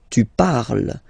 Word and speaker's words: parles: Then for tu, you will have to put es. Okay? Phonetically, tu parles. So you've got the two first forms, you pronounce them the same way. You write them differently, of course, because you've got here, and then you've got and s, okay? But then phonetically, they are the same.